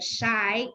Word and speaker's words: Shi: me on linkedin shy my last name shi pronounced as a shy and i'm not shy